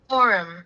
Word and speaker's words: Karakoram: Karakoram. That's how it's said.